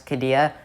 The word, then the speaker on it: Qiddiya: that that is my analysis of six flags kadia opening in 2023 in the desert of saudi